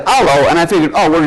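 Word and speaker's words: allô: But the French word is pronounced allo, so I said that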